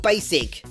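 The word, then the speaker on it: Bacic: was played by steve basic yes he's pronounced that way even though he spelled pakic credited five episodes from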